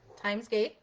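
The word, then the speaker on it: Thymesgate: And my YouTube channel is Timesgate on YouTube. Time is spelled like the herb, T-H-Y-M-E-S.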